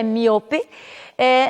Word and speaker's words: miope: nós diríamos miope, então vejam que a pronúncia, nós temos somente duas sílabas, não é? Míope é miope, nostalgia, em espanhol será nostalgia, e protótipo em português, em espanhol será prototipo.